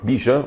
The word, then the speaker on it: Bijan: E sem essa ignição terrestre com Ban Robinson, ou melhor, Bijan Robinson, ele pede para que a pronúncia seja assim, né? Em inglês seria Ban Robinson, mas é Bijan Robinson, tipo biju. Biju, um negócio muito bom, inclusive gosto de biju.